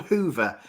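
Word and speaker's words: Whova: the day fantastic so alistair you said it was called hoover um abdullah is just asking the name of the app and it's spelt a different way isn't it not as in the brand name hoover yes exactly w-h-o-v-a okay and so when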